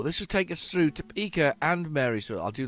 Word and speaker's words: Topeka: Topeka, that's it, Topeka. That was Hatman helped me with that pronunciation.